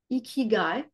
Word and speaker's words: ikigai: So in Japanese, it's called ikigai, I believe. It's the right pronunciation, I had to look.